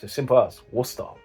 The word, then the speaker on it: Worcestershire: It's as simple as Worcester. Like with the sauce as well, Worcester sauce. You don't say Worcestershire. No, that's incorrect. Worcester. Worcestershire.